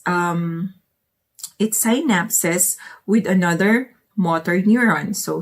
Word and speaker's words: synapse: me what why did he keep on saying sign naps in the u.s she took um pharmacy medicine i'm sorry pharmacy doctor she's a pharmacy doctor sabina you should teach your students to pronounce it as synapse synapse synapse synapses synapses i was using sc